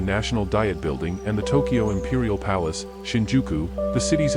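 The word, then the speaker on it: Tōkei: During the early Meiji period, the city was sometimes called Tokiai, an alternative pronunciation for the same characters representing Tokyo, making it a kanji homograph. Some surviving official English documents use the spelling Tokiai, however, this pronunciation is now obsolete.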